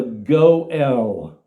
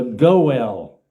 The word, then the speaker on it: goel: a little while the goel the goel rhymes with Joel it's a Hebrew word but in English we